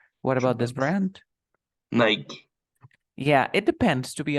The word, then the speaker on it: Nike: So the name is Nike. But some people say Nike, but the real pronunciation is Nike. If you call to the company and you ask the real pronunciation, they will say that they say Nike. But some people misunderstood pronunciation and they say Nike too. So Nike and Nike both are acceptable, but you know that Nike is a real pronunciation.